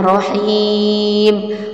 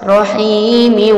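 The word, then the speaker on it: رحيم: miom namanya Idgham Bighunnah Jadi kalau berhenti cara bacanya Rohim kalau bak kalau washol Rohimi uwung jadi ada perbedaannya kemudian selanjutnya yaitu buang uh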